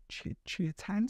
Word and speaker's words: Cihuatan: little bit of spiel that obviously Chiatan. Someone put it phonetically for me in the comments. Chiatan Cinabrio 12-year-old.